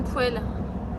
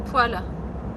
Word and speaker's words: poêle: Ah, comment ça se prononce? Une poêle, une poêle, parce que c'est féminin.